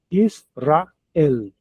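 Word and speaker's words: ישראל: Olha as divisão de sílabas aqui. São três. Is, is fechou aqui no s. Is, is depois ra, ra. Para finalizar, uma palavra com três sílabas. Israel.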